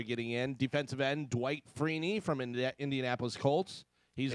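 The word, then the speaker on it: Freeney: in defensive end Dwight freeny from IND Indianapolis Colts he's you you don't want to be a defensive end name that rhymes with weenie for Real uh wide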